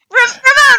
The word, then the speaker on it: Ramon: I think she severely mispronounces it, with trying to roll her R's. She does not do it. Ramon. Ramon. Ramon, right.